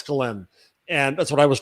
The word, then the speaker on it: Ghislaine: Is that how it's pronounced? Ghislaine, yes. I heard it from her father.